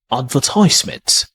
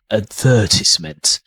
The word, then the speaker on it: advertisement: British pronunciation, I say advertisement, advertisement. The stress here is in the second syllable, advertisement. The first syllable is a stress. In British English, the second syllable is a stress.